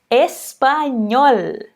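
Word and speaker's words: español: é parte de comigo espanhol perfeito então em espanhol esse l ele sempre vai ter esse som não importa a posição dele é mas se você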